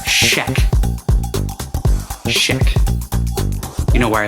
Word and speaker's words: Schaech: By the way, I finally looked it up, and the guy who played Mikey, his last name is pronounced Schaech.